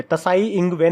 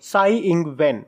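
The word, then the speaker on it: Tsai Ing-wen: T silent है यहाँ पे, तसाई इंग वेन नहीं बोलेंगे, साई इंग वेन।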